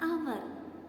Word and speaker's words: hour: ant, an orange, an hour. Here the word hour starts with H letter. But H is silent here.